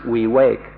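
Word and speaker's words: viveka: of freedom in pali the word is the vacant v IV e ka or we wake up and entires pronounced we wake we wake up is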